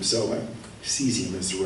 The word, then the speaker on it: cesium: So I heard it pronounced Celsius, cesium, and cesium, kind of like shazam.